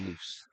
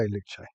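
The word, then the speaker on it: Luce: I thought it was loose. Okay. Luch. Depends who you ask how to say it, but apparently according to Ferrari, you say Luche.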